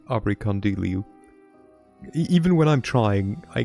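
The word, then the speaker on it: Abrikandilu: Okay, so first of all, so that's how you pronounce Abracandulu. I will still call them abracadoodles, because I cannot be arsed to go like abracandilu.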